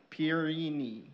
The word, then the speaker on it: Pierini: Pierini. Am I saying it right? Yes. That's a little bit of a tongue twister for me. would be French and Pierini would be Italian, so tonight you get both French and Italian.